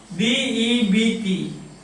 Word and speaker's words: debt: D-E-B-T. How do you pronounce it? Not debt, but a debt. This sound is not pronounced at all.